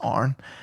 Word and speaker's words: Aaron: oh yeah, no, well, his name's not actually Aaron, it's actually pronounced Arn.